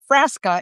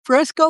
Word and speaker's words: Frasca: I mean, my last name is Frasa and people like Fresco, like the soda.